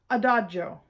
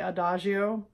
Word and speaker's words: adagio: like tempo one in your score and it's pronounced tempo Primo all right got it good number two a Dodge oh now I don't know why but for some